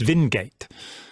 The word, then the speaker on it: Wingate: Throughout Israel, there are streets named after Ord Wingate, which is pronounced Vingate in Hebrew.